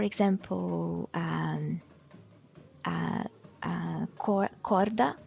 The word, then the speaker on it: corda: um uh uh cor Corda like c o r d a like the word for rope cord then it's in the middle and it's not starting a syllable so then it depends